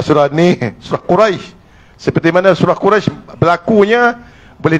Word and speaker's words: Quraisy: Jadi kita baca bunyinya Quraisy. Dekat pada ya. Quraisy baru tutup dengan syin qurais. Quraisy. Qurais jangan lepas. Ha ha. Itu cara bacanya.